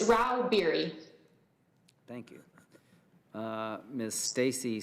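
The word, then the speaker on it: Rauh-Bieri: how do you say your name ma'am it's Ral beer thank you uh Miss Stacy Stags leral lobbyist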